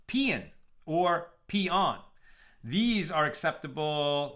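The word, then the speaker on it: paean: AE o n she says it's spelled it's pronounced pean or peon these are acceptable not Pon not peon wait I don't even know what I said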